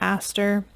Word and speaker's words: ASTR: Some people pronounce it Aster.